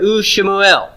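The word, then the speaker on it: ושמואל: So it's going to be pronounced U-Shalomo. I'm sorry, U-Shemuel.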